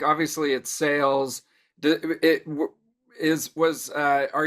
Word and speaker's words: Sailes: the name come from no it's just simply sale spelled with AI instead of just an A okay gotta you just